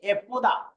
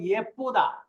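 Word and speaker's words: 예쁘다: আপনি এ উচ্চারণ করলে হবে কি? এপুদা। এপুদা। আর যদি ইয়ে উচ্চারণ করলে তাহলে হবে ইয়েপুদা। ইয়েপুদা। ঠিক আছে, ইয়েপুদা। এপুদা ইয়েপুদা দুইটা উচ্চারণ করতে পারবেন এটা, ইয়েপুদা বা এপুদা বা ইয়েপুদা।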